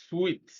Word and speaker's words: sweet: This word is pronounced sweet.